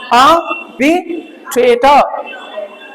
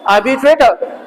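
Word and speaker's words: arbitrator: इसको र को र ना पढ़ के अ की आवाज दोगे, आर साइलेंट रहेगी, तो क्या रहेगा? आर्बिट्रेटर। समझ रहे हो ना मेरी बात? क्या बोलेंगे? आर्बिट्रेटर, आर्बिट्रेटर, आर्बिट्रेटर। तो र नहीं पढ़ना, ये भी साइलेंट है और ये भी साइलेंट है।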